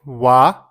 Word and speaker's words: は: Let's start with wa. Even though it is written as ha, it is pronounced as wa when used as a particle.